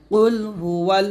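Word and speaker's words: قل: পেশ হু কুলহু আল্লাহু এখানে দেখুন আমরা যে ফুলটা করি কফের জায়গায় আমরা কাফ পড়ি মানে কুল বলি তো শুধু কুল বলা যাবে না এটা কুল বলতে হবে কুল মোটা করে বলতে হবে কুলহু ওয়াল বলতে হবে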